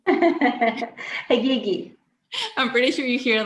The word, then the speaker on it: Haghighi: The original name is from Iran, so I'm from Iran, and the original pronunciation would be Haghighi. But that's really hard to expect of people. So Haghighi is my, preferred way of pronouncing my name.